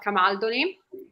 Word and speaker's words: Camaldoli: Italy, one of them, the Hermitage of Camaldoli, that you probably pronounce in a different way, Camaldoli, something like that, in the United States.